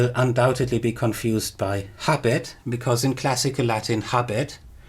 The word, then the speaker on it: habet: Now I have pronounced it as habet, as you would in classical Latin, but in early Latin and in Plautus it was probably still pronounced habet with a long vowel.